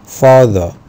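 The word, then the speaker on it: father: هتنطق ودفي الامريكان اكسنت في البريتش اكسنت وما بينطقوش الاي ار خالص او الار في نهايه الكلمه بيقولوا فاذا فاذا الكلمه اللي بعد كده عندي اليو هنا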